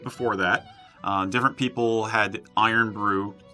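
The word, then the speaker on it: Irn-Bru: versions of it before that different people had iron Bru spelled like iro and BR eak w TW and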